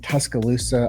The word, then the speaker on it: Tuscaloosa: I have Corey Neill coming on with me from, I believe, Tuscaloosa, Alabama. Good job. You pronounced it right.